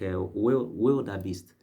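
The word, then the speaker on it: wildebeest: Okay, I learned that some other time and if I had not done that, I believe I would have I would have pronounced it as a wild wild beast or something.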